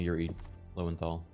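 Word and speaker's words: Yuri Lowenthal: Yuri's voice I love I love me some Yuri lenthal that's how you pronounce his name it's so like I fight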